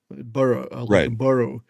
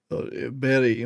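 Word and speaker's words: burgh: h bur burrow we say you know muscle bur berry muscle you know it's closer to that than and sometimes that's same for b e r places with b e r we would say bur so it's not berry but it's not berg either so something it's something in between the two.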